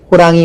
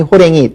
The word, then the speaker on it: 호랑이: 표준으로 인정을 하지 않습니다 그러니까 당연히 호랑이 호랭이 두 개다 발음하지만 호랑이만 표준 하고요 먹이다 맥이다 가운데 이제